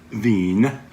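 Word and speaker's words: Wien: in Europe right there capital Veen or Vienna as we pronounce it lists Ganesh as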